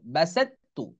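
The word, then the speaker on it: بسطت: এখানেও এরকম বাসাত্তু, এই ত উচ্চারণে আসবে না, কারণ এটা একই মাখরাজ, ত তা, কিন্তু প্রথমটা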